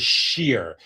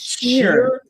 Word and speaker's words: Scheer: And by the way, my last name is Shear. It's Shear with an S.